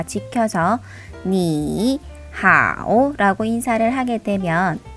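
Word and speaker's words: 你好: 그런데 여기서 성조를 다 지켜서 니, 하오 라고 인사를 하게 되면 발음하기 불편할 뿐만 아니라 시간이 많이 걸리죠. 그래서 조금 더 스무스하게 발음해 주기 위해서 앞에 있는 제3성을 제2성으로 바꿔서 니하오 라고 인사합니다.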